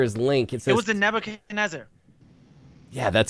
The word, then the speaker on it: Nebuchadnezzar: oh the answer is link it was a Nebuchadnezzar yeah that's how you say it there it